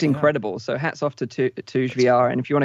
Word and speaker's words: Touge: I actually queued that up to show people, and it's pronounced Toge. It's a form of racing. I've pronounced it Touge for the longest time as well.